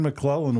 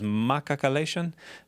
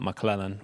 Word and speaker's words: McClellan: my mission because uh four consonants in a row are difficult for some folks to to pronounce so it usually came out as makakalation down in Uruguay and so I would spell it that way and and it came out McClellan which was a lot easier and I got home